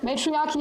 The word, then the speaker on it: matriarchy: Matriarchy.